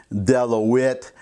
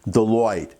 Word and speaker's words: Deloitte: the way I know it looks like it's spelled della wit or some kind of French name I used to work for the American Institute of Certified Public Accountants trust me it's pronounced Deloitte anyways she started her